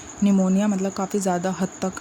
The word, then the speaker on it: निमोनिया: निमोनिया जैसे बोलते हैं, पी साइलेंट होता है इसमें।